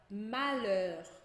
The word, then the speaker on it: malheur: Então, se a gente tiver um LH em francês, a gente vai dizer só o L. Então, por exemplo, eu tenho a palavra malheur, que é tristeza.